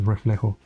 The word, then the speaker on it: reflejo: Yeah, because the J is like in Spanish is like almost not pronounced. So that's why I said reflejo.